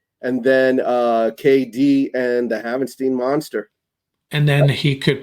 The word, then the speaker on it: Havenstein: I used to say Havenstein, I think it was. Yeah. I remind myself it rhymes with Frankenstein, so you got to remember.